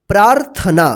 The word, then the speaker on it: प्रार्थना: की मात्रा है तो इस रेफ की मात्रा जो है ना प्रा के बाद आधा र उच्चारण होगा फिर यहां पे ना तो क्या पढ़ेंगे इसको प्रार्थना तो ध्यान से देखिए